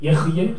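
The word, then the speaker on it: אהיה: 어떻게 읽냐면요, 여러분들 예흐예, 하야, 예흐예라고 읽을 거예요.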